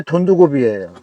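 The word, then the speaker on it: Дундговь: 아니, 현재 돈두고비예요.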